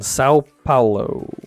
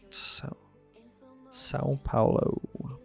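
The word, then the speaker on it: São Paulo: They lived in Sao Paulo, I believe is how you say it. Sao Paulo.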